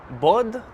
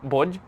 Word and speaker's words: bod: So the singular form is bod. Maybe not pronouncing it the best, but like bod, something like that. And plural would be bodji. So it sounds like the English word body, but it's not meaning body.